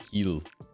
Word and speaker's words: Hell: named Hell I think it's not pronounced hell though I think it's like heal yeah a thousand bro